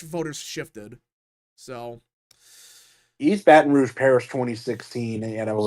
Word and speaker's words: Baton Rouge: you I think you finally pronounced it right it's Baton Rouge Baton Rouge whatever yeah